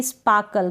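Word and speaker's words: sparkle: फिर सेम ऐसे ही स्पार्कल, क्या है, स्पार्कल या फिर स्पार्कल, ठीक है। आर को आप साइलेंट रखें, मतलब हल्का सा प्रोनाउंस करें तो चलेगा।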